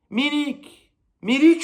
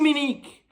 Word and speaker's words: Milik: Milik ou Milik, comme tu veux. Tu le prononces un peu comme tu as envie.